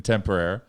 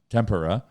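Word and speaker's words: Tampere: there's there's two teams in temporary or temp pair but we at they pronounced a temper temper temper era I love tempura but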